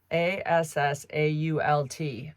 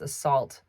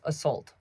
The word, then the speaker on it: assault: today is the word a-s-s-a-u-l-t I pronounce this assault she was assaulted by the man my daughter says assault assault like she's saying sulking it's assault this drives me crazy